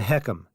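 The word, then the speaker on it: HECM: The Heckum is how we pronounce it.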